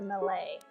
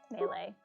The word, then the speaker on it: melee: It's melee. I had a friend once who would always pronounce it melee, and it, like, caused me physical pain to hear him say melee, and I would always try to tell him that it was melee, and then he thought